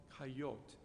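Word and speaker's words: coyotl: of the aztecan nual coyote there's a tl at the end of that word and as you'll see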